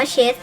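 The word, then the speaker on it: Chase: สะอาด เชอรี่ คิด แต่ ตัว นี้ อ่าน ว่า เช็ด นะ ครับ เนี่ย นะ เช็ด โอเค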